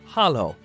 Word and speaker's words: halló: Hello in Icelandic is pronounced halló.